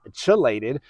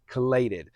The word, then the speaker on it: chelated: I had a viewer tell me or suggest to me that I was pronouncing chelated wrong. And I was. It's not chelated. That's my East Texas accent. The proper pronunciation is chelated.